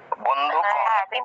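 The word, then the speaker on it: বন্ধূক: হ্যাঁ, দীর্ঘ উকার থাকলে দীর্ঘ রূপে উচ্চারণ হবে।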